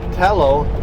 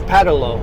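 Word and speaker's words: Pattullo: No, it's not Patello, it's Padolo.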